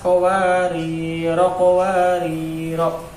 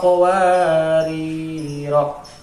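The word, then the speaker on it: قَوَارِيرَا: Ketika kita membacanya itu diwasolkan, bacaan tersebut tidak boleh dipanjangkan atau harus pendek, yaitu kanat qawarira. Sedangkan kalau berhenti pada bulatan yang lonjong dibaca dua ketukan.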